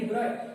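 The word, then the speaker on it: de Broglie: डिब्रॉय नामक साइंटिस्ट ने, जिसका नाम हम लिखते हैं डिब्रोगली, क्या लिखते हैं, डिब्रोगली, लेकिन बोला क्या जाता है डिब्रॉय, प्रोनाउंस क्या करेंगे डिब्रॉय।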